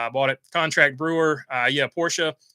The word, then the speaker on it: Porsche: out over there here's a new link it's pronounced Porsche not Porsche says Bo Arville uh Discord link there's the